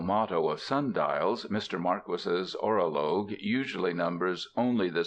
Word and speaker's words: Marquis: name not a pseudonym it is pronounced Marquis not Marquee I reprint here two